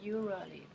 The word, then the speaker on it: usually: I pronounce usually, but my teacher said it's wrong. Yeah, that's wrong. You could try to aim for maybe like a j sound. So usually, it's not really j, it's j.